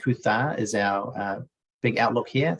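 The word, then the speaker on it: Coot-tha: little eateries here mount kuta kutar is our pronounced kutha is our big outlook here so catch a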